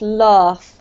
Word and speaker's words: laugh: Just because you have quite a British accent, Carmen, you should elongate this vowel sound a little bit more so it's laugh, okay?